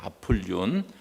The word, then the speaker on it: 아폴리온: 헬라 발음으로 하면요 아폴리온입니다 아폴리온 아폴로 신하고 거의 동일한 발음이에요 요한의 계시록을 쓸 당시